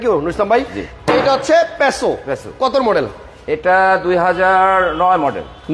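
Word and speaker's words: Passo: যেমন এটা আসলে পেসো, হ্যাঁ আমরা বলতেছি পাসো।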